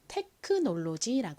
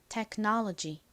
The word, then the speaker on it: technology: 단어를 적어 볼까요 뭔가요 한국식으로는 테크놀로지 하죠 미국식 원어 발음으로는 technology 인데요 자 철자를 적어 볼게요